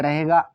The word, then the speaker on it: रही: आर से रा, अब ए साइलेंट रहेगा, एच का मतलब हा, आई का मतलब बड़ी की मात्रा, तो हुआ रही।